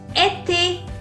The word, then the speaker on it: été: It makes the pronunciation of E as A. A. For example, été.